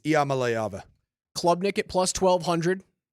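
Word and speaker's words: Iamaleava: what I wanted to do it it's niiko malava try that wow Nikia malava malava you got it oh I butchered that it's just really hard to it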